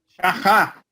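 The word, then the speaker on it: שחה: Shahá. Shahá? Porque CH tem som de R, né? É. Shahá, mas bem na garganta aqui.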